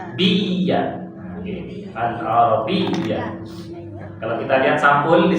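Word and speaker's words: العربية: Kalau bertemu tasydid perlu ditekan membacanya. Alif fathah, lam sukun, ain fathah, ra fathah, ba kasrah, ya tasydid fathah. Ini harus pakai tasydid. Biya. Al-arabiyyah.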